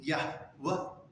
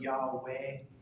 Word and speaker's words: Yahweh: not pronounce it as, we think Yod Hey Vav Hey would be Yahweh.